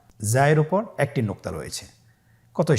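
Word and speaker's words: زاي: উচ্চারণ করার সময় অবশ্যই একালিফ টেনে পড়তে হবে, একালিফ টেনে পড়তে হবে। হরফটি বারিক হরফ, এই জন্যে পাতলা করে উচ্চারণ করতে হবে। যা হরফটির মাখরাজ আপনারা দেখতে পাচ্ছেন। জিহ্বার আগা সামনের নিচের দুই দাঁতের পেট ও আগার সঙ্গে লাগিয়ে উচ্চারিত হয়।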